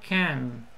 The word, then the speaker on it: can: podemos usar el modal can. Okay? We bend our hand with the wrist. We can bend. Fíjense bien cómo lo pronuncio. Can, can. Olvídense de la A. Es la K y luego la N.